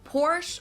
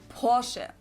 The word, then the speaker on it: Porsche: I've heard Americans pronounce it Porsche or Porsche. Porsche. In German, we say Porsche. So, there's like this short a sound in the end.